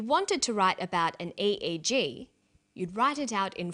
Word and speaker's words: EEG: an acronym or an EEG brain scan helps answer that say the Swinburne researchers he says an 88 g that's an abbreviation we don't pronounce it egg we say aeg aeg